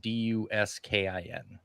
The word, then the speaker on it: Duskin: spell it- yeah, it's pronounced like you'd spell it Duskin.